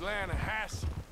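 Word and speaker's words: Lannahechee: near here yeah but it's pronounced land a hassle why does everything in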